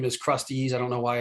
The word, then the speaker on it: Krusteaz: I mean, I've known the name for so long that I'm like, wait, it's Krusteaz.